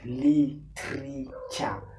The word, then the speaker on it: Litreecha: The brand Litreecha, pronounced Leetreecha, was developed in 2013.